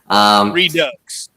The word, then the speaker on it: Redux: Redo. All right. See, I still got it wrong. You know, maybe I'll get it right someday. Redux. Redux, yeah.